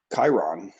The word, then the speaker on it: Kryon: was an update from Chiron. I think I'm pronouncing that right. Kyron. Cryon. And Cryon, Kryon. That's right.